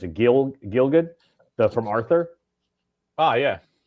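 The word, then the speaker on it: Gielgud: Jason Robart Christopher Walkin John how do you pronounce it? Gil Gilgood the from Arthur.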